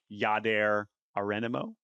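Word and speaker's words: Jadher Areinamo: You really just stepped into that one because I did specifically ask around how to pronounce it, and I believe it is Jadher Arianamo.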